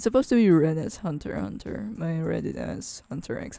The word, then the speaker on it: Hunter x Hunter: like you know a commercial guy says like pronounce the title of the anime and when he said that hunter egg center is hunter hunter i'm just like what what what what are